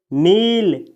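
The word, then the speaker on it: kneel: अगला वर्ब है दोस्तों नील। इसमें के का उच्चारण नहीं किया जाता है साथियों, ये लिखा है नील।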